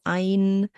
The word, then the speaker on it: ein: The EI letter combination sounds like I, so ein.